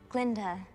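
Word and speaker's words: Galinda: Glinda. The G is silent.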